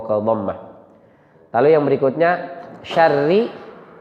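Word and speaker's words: شَرِّ: Lalu yang berikutnya syarri. Kata syarri karena ra-nya berbaris kasrah, maka kita bacanya tarqiq tipis.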